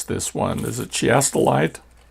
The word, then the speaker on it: chiastolite: Is it chiastolite? Yeah, it's with a hard K in the beginning. Chiastolite.